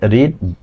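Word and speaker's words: read: Correct pronunciation এর সঠিক উচ্চারণ হচ্ছে আপনার এইটা হচ্ছে ভি ওয়ান হবে রিড, বি টু হবে রেড আর বি থ্রি হবে রেড। আর এর স্পেলিংটা বানানটা একই কিন্তু উচ্চারণ আলাদা।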